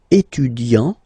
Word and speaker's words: étudiant: Okay, so it will of course change a little bit the pronunciation, because you will pronounce it at the masculine form. Il est étudiant.